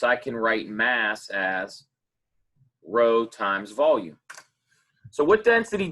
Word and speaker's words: rho: Spelled R-H-O, but it's pronounced rho.